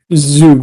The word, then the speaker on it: Zug: Yeah, he's 38 years old, playing for, is it Zug? Is that how you say it? Zug, yep.